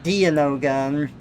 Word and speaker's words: Dianoga: You pronounce it Dianoga. It could be more like Dianoga, diagnosis.